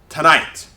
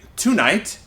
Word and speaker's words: tonight: Tonight. So that means this syllable becomes the schwa. So we usually don't say tonight, we say tonight.